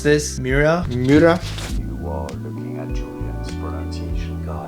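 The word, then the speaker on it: Miura: all Lamborghinis and I've never known how to pronounce this mura mura you are looking at Julian's pronunciation guys pronunciation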